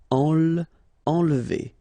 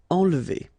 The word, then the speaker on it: enlever: Enlever. Okay, nasal here, en, and then don't insist on this here. Enlever. Enlever.